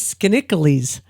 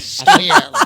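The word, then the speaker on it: Skaneateles: I thought it was Skinnicles. How do you pronounce it? Skinny Atlas.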